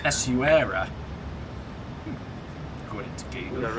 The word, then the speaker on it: Essaouira: Essaouira.